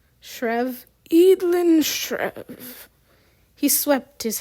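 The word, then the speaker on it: Schreave: stri s c h r e a v shrev edin shev he swept his hand grandly in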